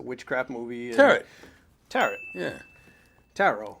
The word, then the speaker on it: tarot: movie and tet yeah tarot rhymes with Caro okay but every so